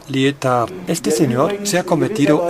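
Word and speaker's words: Lietaer: el señor Bernard ler así se escribe y se pronuncia lar Este señor se ha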